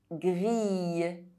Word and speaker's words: grille: I double L is pronounced I, fille, grille.